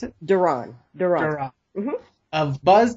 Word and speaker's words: Duron: Is that how you pronounce it? Duron.